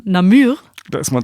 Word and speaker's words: Namur: Bieren aus Wallonien aus, Achtung, nicht Namur, sondern Namur.